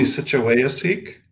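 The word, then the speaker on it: Nisichawayasihk: nation the situation yeah it's it's pronounced the sachawaya sikh where three rivers meet thank you um so albert mcleod is a status indian with ancestry from nisitchuwafeek cree nation and the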